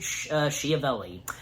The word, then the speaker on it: Schiavelli: to make sure, and I did, so Vincent Schiavelli.